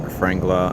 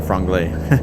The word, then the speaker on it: Franglay: Um for that I believe you can just look up truck Frangla on um sorry Franglay. I always I always make the mistake of saying it wrong.